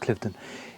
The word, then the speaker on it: Cliveden: And it's said that the garden designs here are based on Cliveden. I think it's spelt Cliveden, but pronounced Cliveden, in Buckinghamshire somewhere that I've not been to.